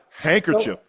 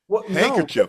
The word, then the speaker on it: handkerchief: Handkerchief. Handkerchief. The D is silent.